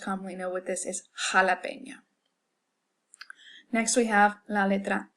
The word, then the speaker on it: jalapeño: Our next letter is J, which, as I just stated, is pronounced like that hard back of the throat H in English. The word that we probably most commonly know with this is jalapeño.